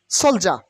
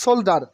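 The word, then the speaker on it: soldier: জলদস্য ফাইরাইট মানে জলদস্য সোলজার সোলজার সৈনিক সোলজার নট সোল্ডার অথবা সোল্লডিয়ার অথবা সোল্লার সোলজার সোলজার অ্যাম্বাসিডা অ্যাম্বাসিডা মানে রাষ্ট্রদূত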